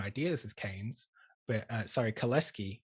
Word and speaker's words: Kalecki: seeing other things, there's Kalecki, who had the same ideas as Keynes, but sorry, Kaleski, he's Polish, that's how you pronounce it, Kaleski, had the same ideas